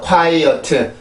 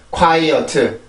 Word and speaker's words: quiet: quiet, quiet. 요렇게 있는 발음이 요건데 영어로 보면 이음절이에요. 이음절. 그리고 강세는 앞에 있는 음절에 있고요.